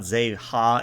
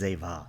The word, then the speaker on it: Zeva: It's not Zeha, it's Zeva.